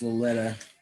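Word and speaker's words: Loleta: knee again yeah it's probably apparently pronounced lolita but it says all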